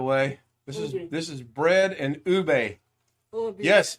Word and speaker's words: ube: It's ube.